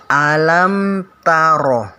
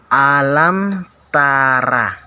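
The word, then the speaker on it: أَلَمْ تَرَ: Nah, jadi cara membacanya alam taro, alam taro, bukan alam tara, tapi alam taro, taro.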